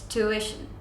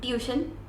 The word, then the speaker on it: tuition: it's this one okay it's tuition it's not tution it's tuition or tuition okay so